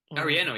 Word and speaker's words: Arellano: Um, Diego throwing a sick touchdown to his brother late in the game, Jose Luis Castro, Arellano, sorry. You pronounce it better. Ariano, yeah, you said it well.